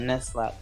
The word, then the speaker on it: Nuzlocke: I like the way you speak, but Nuzlocke. I don't know what that means, but no, just imagine Nut with Z and then Lock, L-O-C-K-E at the end.